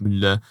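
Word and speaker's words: Müller: I mean, I guess for one, they would say Mueller, and the other way they'd be like Mueller. They'd use the German pronunciation, Thomas Mueller.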